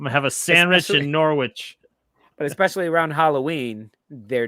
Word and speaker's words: Norwich: address that comment guys it's pronounced norwich yeah we've tried telling mark that he refuses absolutely you can try you're gonna have i'm gonna have a sandwich in norwich and especially a sandwich